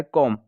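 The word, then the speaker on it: comb: और यहाँ पे देखें, वर्ड बी पे ख़त्म हो रहा है, मगर इसका साउंड क्या निकलता है? कॉम, मतलब बी यहाँ पे क्या है? साइलेंट है।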